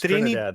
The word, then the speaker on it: Trinidad: As I'll let you pronounce. Is it Trinidad? It's Trinidad, yeah.